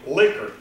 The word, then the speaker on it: Likert: this guy called it he pronounced his name liquor so those are liquor